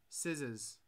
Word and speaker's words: scissors: back what's up g scissors the c is silent scissors see i don't care